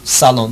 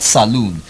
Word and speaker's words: salon: wrong is Bobby salon there's only one o there but if you have double oh there you have saloon like you have a saloon car oh I just bought the saloon car but when you talk about when you do your hair you have your hair cut you see Salon s al o and salon single Oh salon not saloon and then you have